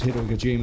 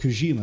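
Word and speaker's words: Kojima: camera is, you know, because Hidokima is such that is not how you pronounce his name at all. Hideok Kushima. There we go.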